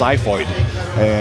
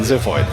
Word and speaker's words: Ziphoid: And also interesting thing especially uh British people they think it's is pronounced zyoid in that sense but I felt zyoid is clumsier than zifoid in in a way.